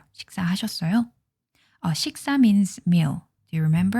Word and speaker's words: 식사: Don't forget, the pronunciation of this is not 식사, it's 식사, 식사. There's a strength here, okay, because of the 받침 here.